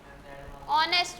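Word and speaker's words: honest: ये तो एच से शुरू हो रहा है। एक मिनट है, तो साइलेंट है तो क्या हो गया? तो ये एच साइलेंट नहीं है, बोलने में एच साइलेंट जिसमें होगा उसमें एन लगेगा।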